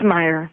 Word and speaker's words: Mayer: Is it Mayer or Meyer? It's Meyer.